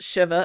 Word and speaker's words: shiva: we talked about Shiva, which is pronounced Shiva according to Rabbi Jason, but in the show they call it Shiva.